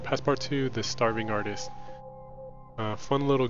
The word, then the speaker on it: Passepartout: I was pronouncing it Passepartout, not realizing the last T is silent. It's French, so it's Passepartout, which means frame for painting or picture.